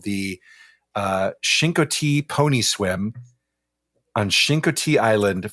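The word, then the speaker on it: Chincoteague: Um the the gu is mostly silent. You can barely hear it when the locals pronounce it as Shinki.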